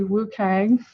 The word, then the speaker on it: WCAG: a lot is the they call it the Wu Kang checklist um that's just a pronunciation uh for the wcag checklist but basically um there's